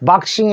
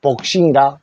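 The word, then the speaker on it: boxing: 뭐라 하냐면은 복싱이라는 그래서 소리를 하면 복인데 요거를 아 소리 내면은 박이라 합니다 그래서 박싱 해도 되고 복싱이 해도 됩니다 황수 한 마리는 악스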